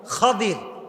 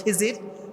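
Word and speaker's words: خضر: জ্ঞানী তার নাম হচ্ছে খাদির তার নাম কি খাদির আমরা বলি খিজির তবে এটার আসল উচ্চারণ হচ্ছে খাদির উচ্চারণটা আসলে কি খাদির খাদির মানে হচ্ছে সবুজ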